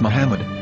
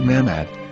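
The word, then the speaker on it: מחמד: yehudas hebrew english dictionary it is correctly pronounced as muhammad not mahmod so how we're going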